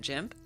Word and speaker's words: GIMP: I call it GIMP because the hard G is like a slur, and it just makes me, it feels weird.